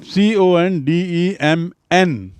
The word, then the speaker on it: condemn: To condemn मतलब CONDEMN और उच्चारण है condemn, ना is silent, N is silent.